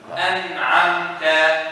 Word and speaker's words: أنعمت: An'amta, no stress. An'amta. An'amta. An'amta. A lot of people do this. An'amta. No, you're adding a gunna, which does not exist in the shad, only exists with the shadda.